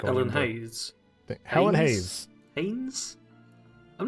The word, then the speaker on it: Haynes: Helen Hayes Helen Hayes Haynes I'm not actually sure how you pronounce that h-a-y-n-e-s I think that's Haynes like the underwear yeah Helen Haynes uh